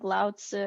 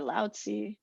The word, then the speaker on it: Lao Tzu: does so that's fine so it's spelled Lao Tzu like l-a-o-t-z-u but it's oh generally pronounced like laozi or lousy I don't know I